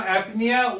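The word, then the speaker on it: apnoea: as aphonia now apnea now apnea o is not pronounced here o is not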